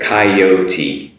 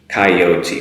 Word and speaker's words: coyote: which i had is coyote coyote which is quite different than the japanese pronunciation and the katakana used